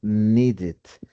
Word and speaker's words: needed: Ya, si voy a utilizar el verbo need, entonces suena needed. Needed. Ten en cuenta el acento americano esa D. Recordemos que la puedo convertir en y suena needed.